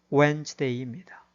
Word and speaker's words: Wednesday: 제시된 수요일이라는 단어도 철자를 그대로 읽으면 Wednesday이지만은 실제 발음은 Wednesday입니다.